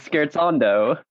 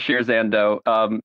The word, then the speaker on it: Scherzando: we say the word pronounce correctly which is scared Sandow music oh oh that's correct so this was a me thing all right never mind no everyone pronounces it shares and though it's totally normal alright excellent well since